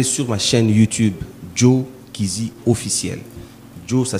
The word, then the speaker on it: Kyzi: Allez sur ma chaîne YouTube, Joe Kizi Officiel. Joe, ça s'écrit Joe, J-O-E.